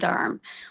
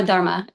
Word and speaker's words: dharma: Um so in Vedic terminology, there's a concept called dharm or dharma. Uh it's pronounced either way, but um the concept is basically your purpose, but how that purpose relates to society, right?